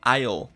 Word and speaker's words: aisle: In aisle 6, no corredor 6. Note que essa palavra aqui, a gente não pronuncia o S. A gente fala aisle. Aisle, tá bom?